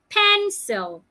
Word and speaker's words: pencil: syllables remember that rule if a word is a noun and it has two syllables you should stress the first part pencil pen must be said louder longer and clearer commit commit commit I'm